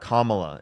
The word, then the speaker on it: Kamala: get in donations, Dude, Kamala I or would love Kamara or? Kamala. It's not difficult to say her name properly.